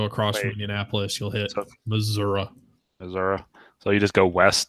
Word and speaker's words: Missouri: The proper pronunciation is Missouri, which is ridiculous.